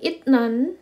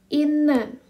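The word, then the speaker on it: 잇난: n jadi ini bacanya Jadi bukan itnan bukan itnan tapi Bacanya adalah Inan Inan jadi t bertemu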